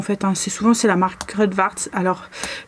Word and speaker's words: Kruidvat: Alors Crudvart, ça s'écrit K-R-U-I-D-V-A-T.